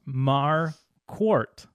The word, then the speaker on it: Marquart: gonna read this part my name is pronounced mar quart like a quart of milk which i do not